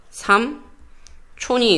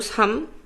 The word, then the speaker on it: 삼촌: 삼촌이 있고 삼춘이 있죠. 맞죠? 삼촌 양성 삼춘 양성 음성. 이 경우는 어디를 삼는다? 얘가 표준발음 인정, 얘는 인정하지 않는다.